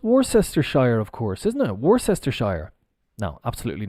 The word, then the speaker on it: Worcestershire: The pronunciation is Worcester. Well, we've got the Shire. Maybe I'm mistaken. Maybe they do it like this on the bottle. I'm not sure if it's... Well, this is pronounced Worcester. And then if we add the Shire on, it becomes Worcestershire. Sure. Like sure, yeah. Okay, no problem. Sure. Worcestershire. Worcestershire.